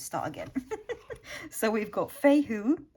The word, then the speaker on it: Fehu: So we've got Fehu, Fehu is how I would pronounce it in my language, for wealth.